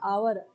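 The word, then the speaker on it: hour: एच है यहां पे लेकिन एच साइलेंट है। आवर ठीक है?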